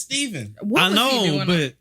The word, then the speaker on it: Stephen: yeah yeah Stephan dude every time I see it spelled like that I think Stephan instead of Stephen yeah it's Stephen on that want to